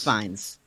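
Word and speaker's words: Fiennes: Rafe fines. Rafe fines. Rafe fines. Fines is correct. It's not pronounced Ralph.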